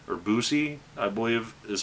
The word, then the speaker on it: Buse: discussing this is Don Busey or busi I believe is how it's pronounced not bus but Lucy and this could be